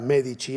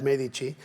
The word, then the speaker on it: Medici: cómo escribir, pero yo prefiero mantener la forma italiana y pronunciarlo la italiana medichi en lugar de acentuar la e, porque entonces habría que poner una ch, ¿no? Pero a veces verán ustedes los medici, ¿no? Pero digamos la pronunciación correcta es medici y prefiero mantenerlo.